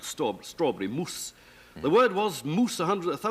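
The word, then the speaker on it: mūs: we do know that the Anglo-Saxons pronounced that word moose because of the way they spelled it m-u-s and instructors and so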